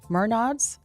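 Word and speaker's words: Menards: The Arca Mernods series.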